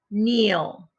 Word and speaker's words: kneel: like in leaf like in lemon what word neil see how they kneel again we are focusing